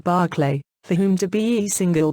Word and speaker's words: Berkeley: Quite in opposition to this was George Berkeley, pronounced Barclay, for whom to be single quote was to be perceived.